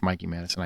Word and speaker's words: Mikey Madison: me um Mikey Madison I keep calling her Mickey and it's not Mickey it's Mikey Madison I apologize when I